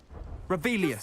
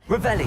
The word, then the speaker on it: Revelio: You're Rebellious. saying it wrong. Ugh. Revelio.